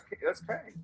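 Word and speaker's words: Qeng: It's Q-E-N-G, so that's Kang.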